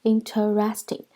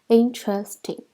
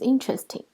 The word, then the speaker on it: interesting: This is mispronounced sometimes as interesting, but there are only 3 syllables, interesting, and the stress is on in, so the word is interesting.